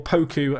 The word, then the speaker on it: Poku: Poku, or Poku, as I've been told his name is pronounced, getting a good goal